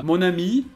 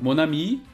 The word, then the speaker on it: mon ami: Só um detalhe que mon ami, escrito assim, significa meu amigo. Se for minha amiga, tem que mudar o jeito que escreve ami. Mas a pronúncia é exatamente a mesma. Mon ami, meu amigo. Mon ami, minha amiga.